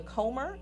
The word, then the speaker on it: Comer: She began her career in 1991 as a parent facilitator of the Comer, am I pronouncing that correctly?